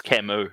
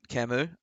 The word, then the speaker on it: Camus: I'm gonna tell you it's camu as well I'm gonna give you a look kamu that's Albert Camus how you pronounce it right that's right yeah